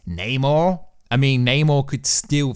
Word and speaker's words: Namor: But it is interesting because before this, everyone was confirming Namor, or Neymar, I say it wrong to trigger you guys and you always fall for it.